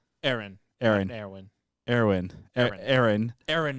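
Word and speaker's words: Eren: Aaron.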